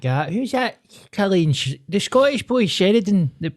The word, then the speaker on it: Cillian: But it's always pronounced Killian if it's Irish.